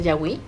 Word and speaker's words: Yawi: Tienen su significado, como ya lo mencionaste, y imagínate poseerla, también hay que conocer esa historia, que también en arte yahuí, lo pronuncio bien, Por supuesto, yahuí, claro.